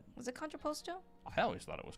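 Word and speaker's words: contrapposto: It's pronounced controposto, not controposto. You know, I thought it was that, but then someone absolutely roasted me saying it was controposto.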